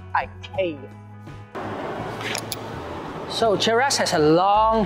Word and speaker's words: IKEA: always pronounce this as ikea actually the correct swedish pronunciation is ikea so cherish has a